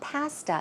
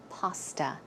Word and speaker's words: pasta: people pronounce it correctly it's not pasta It's Paw Paw pasta It's a lemon cream